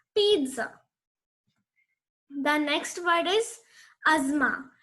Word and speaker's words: pizza: It's not pizza or pizza. It's pizza.